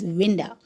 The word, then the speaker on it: winda: In order to rhyme the word Belinda, the poet, he used the word window, misspelled as winda, W-I-N-D-A. Belinda rhyme with window.